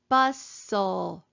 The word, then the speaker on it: bustle: our final stable syllable we're going to cross out our e because it is silent listen carefully bus soul we do not hear the t again so we're gonna cross it out because it is also silent and put our accent mark